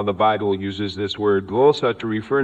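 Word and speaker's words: γλῶσσα: In the original Greek, this word is a glōssa, pronounced as glōssa, which is listed as Strong's G1100.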